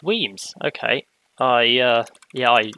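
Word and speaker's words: Wemyss: doing curved stations anymore and rename it it's pronounced weems okay i uh yeah i i did not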